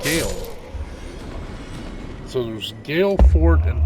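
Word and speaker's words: Gael: uh then there's a fort called g a e l and that's actually pronounced Gale so there's Gale Fort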